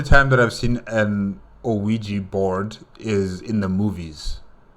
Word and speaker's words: Ouija: gonna learn the alphabet incorrect this is a Ouija board oh sweet yes indeed okay so that's how you pronounce it all right I wanted to play